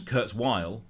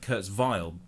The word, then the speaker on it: Kurzweil: we on the group how do you pronounce Kurzweil um it seems Kurtz Weil I would have said Kurt's vile WV and all that